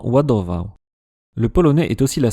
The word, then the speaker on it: ładował: Donc ça donne des mots comme l'une des lettres les plus reconnaissables est le barré prononcé comme dans Wadovo.